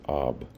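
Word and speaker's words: אב: This is expressed in the letters Ayin and Bet, and is abbreviated and pronounced as Ab.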